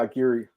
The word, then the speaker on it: Aguirre: So how do you pronounce it? Yeah, Aguirre. Aguirre, okay.